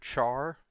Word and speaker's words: char: one a character or some people pronounce it char me personally it's short for characters who always call it a care I don't think it